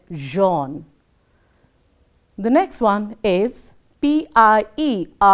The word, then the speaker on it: Jean: So, we will have to learn that, and going ahead, the first one is Jean, which is pronounced as Jean.